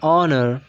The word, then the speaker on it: honor: For example, an honor, an hour, an honest man. So here we have H, but H is silent here, and the O is a vowel.